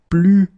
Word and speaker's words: plus: Okay, so you can see that I don't pronounce it final S.